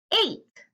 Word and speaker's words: ate: no e correct so since it has an e our a says its name so let's sound it out a eight now let's try to